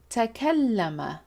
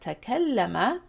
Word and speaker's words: تكلم: And if you have accessed the root and pattern system in the playlist that we have, you can tell that تكلم rhymes with تأخر.